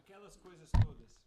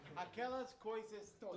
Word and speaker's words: Aquelas coisas todas: going to have to help me with the pronunciation. Oh, of yes. this, man. Aquelas coisas todas. What he said Yeah. is exactly right. Aquelas coisas todas.